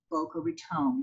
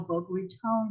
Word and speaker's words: Boca Raton: little bit about how boca raton got her name so first of all in 1982 our city council actually passed a resolution dictating the correct pronunciation which is with a long o so please give it